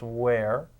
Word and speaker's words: where: greed it is great where has an ER but it doesn't really sound too much like water it's where help through this is one